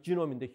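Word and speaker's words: genome: 그래서 어떤 사람 거 하나 그거 읽어본 거를 인간 게놈 프로젝트, 영어로는 이제 발음이 지놈인데 휴먼 지놈 프로젝트를 했다고 그래요.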